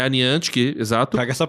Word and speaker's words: Niantic: Niantic. É a Niantic, exato. Traga essa pronúncia.